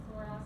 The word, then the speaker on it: psoas: How do you spell that psoas muscle?